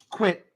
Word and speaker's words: QIT: QIT. It's pronounced quit, which stands for.